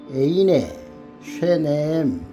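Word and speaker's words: עיני שניהם: 와티파카흐나 에인네 쉐네햄 쉐네햄 이렇게 읽습니다.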